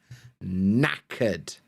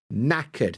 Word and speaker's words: knackered: Now, a British person would say that she is knackered. Knackered. The K is silent.